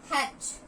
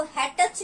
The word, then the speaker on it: hatch: Number 13, हैच, HATCH, हैच। इसको क्या बोलेंगे? HATCH, हैच। इसको हैटच नहीं बोलना, T इज साइलेंट।